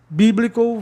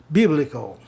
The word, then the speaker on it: biblical: Biblical vai para a regra do sistema, né, de proparoxítono, vogal terminado em consoante, vogal consoante. E aí o I volta ao som normal, né, da regra, aquela grande regra, né, vogal duas consoantes, o I soa I. Biblical.